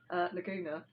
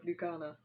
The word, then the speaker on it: Lugana: I try to explain to somebody why I say Lugana, Laguna instead of Lugana.